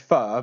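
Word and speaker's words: phở: just just up there what's the actual proper pronunciation then it's fur is it yeah it's far but if you want to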